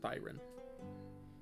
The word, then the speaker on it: Thyron: Or would that be Thyron? Thyron sounds better. I like Thyron better. We'll pronounce it Thyron.